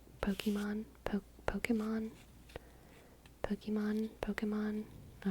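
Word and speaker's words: Pokémon: and spirals with your Pokemon I do yeah I love Queen Gambit I love Anya Taylor Joy she's enchanting there is an accent on the Ian poke Pokemon poke Pokemon Pokemon Pokemon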